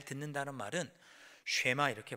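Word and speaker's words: שמע: 내 말을 잘 듣고 할 때 잘 듣는다는 말은 쉐마 이렇게 발음하죠. 듣는다는 말을 쉐마 이렇게 발음하는데 그 뜻은 단순히 귀로 어떤 소리를 듣는다는 의미가 아니고 이해하고 이해한 후에 순종하다, 실천하다, 그런 뜻이 쉐마라는 단어의 의미입니다.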